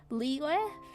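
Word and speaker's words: Liyue: The background is Leeway from Gunin Impact. It's spelled like Od.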